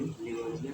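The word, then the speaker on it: Lavoisier: English में लेवाइसियर कहा जाता है। इसका स्पेलिंग होता है LAVIOISIER।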